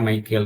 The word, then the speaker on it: مِيكَىٰلَ: தான் போட்டு இருக்காங்க இல்லையா மீக்காயில்ன்ற அந்த வார்த்தைக்கு வந்து மைக்கேல் மைக்கேல் இவங்க மட்டும் மீக்காயில் அப்படின்னு சொல்லி போட்டு இருக்காங்க மைக்கேல் மீக்காயில் மைக்கேல் அரபில வாசிக்கிறதா இருந்தா ஆக்சுவலி வந்துட்டு மீக்கால அப்படிங்கறதுதான் உச்சரிப்பு ப்ரொனௌன்ஸ் சொல்லிட்டு அப்படித்தான் வரும் இது யா மாதிரி இருக்கும்